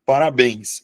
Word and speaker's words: parabéns: Então eu vou acentuar, porque a sílaba tônica está na última sílaba da palavra.